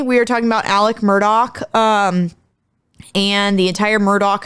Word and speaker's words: Murdaugh: people mispronounce their name it is Murdoch not Murda because people in the